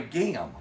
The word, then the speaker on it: gam: It rhymes with spam. Ham. What is it? Green eggs and ham. Yeah. What is it? It's called a gam.